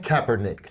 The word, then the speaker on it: Kaepernick: this what is this name how do you pronounce his name Kaepernick Colin okay and and I want to Evan